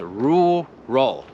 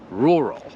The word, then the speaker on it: rural: słowo suburbs I rural pamiętaj to jest rural rural ale się przyznam że to jest trudne słowo Nawet teraz jak powtórzyłem